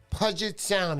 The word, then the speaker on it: Puget Sound: some info about fisheries, specifically any info on Puget Sound. Am I saying that right, honey? I don't know how to pronounce that.